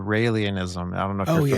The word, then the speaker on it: Raelianism: It's like Rael. It's like Israel, but it's Rael Ianism.